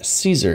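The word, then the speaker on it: Zieser: That comes from my last name being Caesar. It is pronounced Caesar. It is actually Z-I-E-S-E-R.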